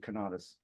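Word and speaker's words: conatus: a thing is it's katus I pronounce it katus yeah um and um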